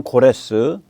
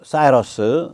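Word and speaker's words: Cyrus: 이제 저기 그 지중회 쪽에서는 그 성경에 나오는 고레스 어 그다음에 영어 발음물은 어 사이러스 그다음에 그 그 원어은 아마 키루스 그 같은 사람인데 페르샤 제국의 창시자죠.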